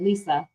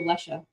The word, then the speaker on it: Leisha: So whenever I see your name, but I know you pronounce it Lisa, I would think of her name. But then I'm going to call you Lesha.